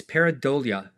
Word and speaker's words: pareidolia: Well, if you're curious, Dawn, Miss Slobrichta, taught us how to say it. It's pareidolia. Pareidolia, seeing faces in inanimate objects.